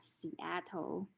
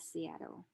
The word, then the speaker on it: Seattle: And instead of pronouncing it as Seattle, we pronounce it as Seattle.